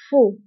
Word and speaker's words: faux: وانتبهوا بالنسبة لفو كنكتبوها بإكس آخر الكلمة لكنها لا تنطق faux.